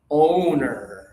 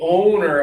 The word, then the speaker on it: owner: So you can feel the difference between the pronunciation. This one is again a honor. And this one is o o owner.